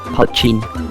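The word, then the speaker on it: poitín: helpful or kindly one protein protein or poison pronounced patching is a distilled irish drink that can be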